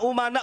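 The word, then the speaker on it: أمناء: begini Bahar bin smit Al ulama umana Rasul Tapi bacanya Al ulama amana rusul saya katakan salah kenapa Karena di sini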